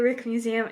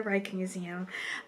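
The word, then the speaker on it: Rijksmuseum: leading up to that I had always called it the Reich Museum and then I had second guessed how I was supposed to pronounce it called the Rick Museum it is the Reich Museum um but uh we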